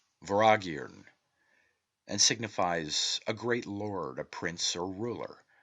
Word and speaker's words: Vortigern: The T is silent and M is inflected, as is common in the Celtic, and is given the sound of V. The word is phonetically pronounced Voragirn and signifies a great lord, a prince, or ruler.